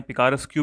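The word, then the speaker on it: picaresque: दोस्तों पिकारेस्क novel जो होते हैं, पिकारेस्क्यू भी बोलते हैं, पिकारेस्क भी बोलते हैं।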